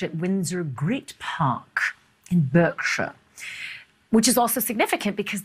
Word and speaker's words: Berkshire: It's spelt Berkshire, but it's pronounced Berkshire.